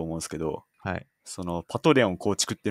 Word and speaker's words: Patreon: すかなんかね僕が知ってる限りではペイトレオンって読むらしいんですけどそうねペイトレオンすねいやわかんたなんかペイトレオンって呼ばれてますねなるほどこれは